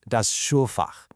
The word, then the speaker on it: Schulfach: That's pronounced das Schulfach.